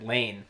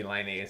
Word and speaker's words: Laine: He just thought like, oh, I better pronounce it like in English way. Yeah. Like the English way, Patrick Lane. Lane. And then I guess everyone's like, no, you can be Laine.